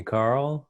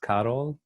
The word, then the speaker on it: Karol: call me carol and some people call me carl um in polish it's pronounced carol i'm from poland originally